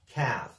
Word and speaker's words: calf: the previous lesson that the L is silent we don't pronounce the L it's pronounced like calf in British English it